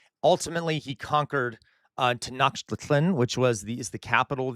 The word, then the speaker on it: Tenochtitlan: Um, I pronounced it Tenochtitlan. That there are different. I'm not sure how to pronounce it fully, J. William, but Tenochtitlan is how I was taught to pronounce it. I could be wrong. I do not speak Nahuatl.